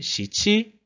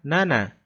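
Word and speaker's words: 七: O 7 a gente viu que tinha a leitura Shichi e a leitura Nana.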